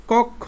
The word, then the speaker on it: কক্ষ: এই ক্ষীয়টা যেহেতু শেষে আছে, তাহলে তার উচ্চারণটা কিরকম হবে? ওই যে বলছিলাম ক প্লাস ওকার, ক প্লাস খ ওকার, কক্ষ, এই যে ভাবে কক্ষ। দেখছো কক্ষ।